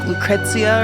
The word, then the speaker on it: Lucrecia: Okay, so Lucrecia, if that's how you say her name, because in Dirge of Cerberus they say it very Italian, like Lucrezia or something. I've always said Lucrecia, so that's what I'm gonna say.